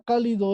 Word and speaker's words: cálido: A ver, la primera palabra cálido es aguda, grave o esdrújula, muchachos. Esdrújula, Ah, Esdrújula. ¿Por qué es esdrújula? porque está en la penúltima. Porque está en la Antepen, antepenúltima. antepenúltima sílaba.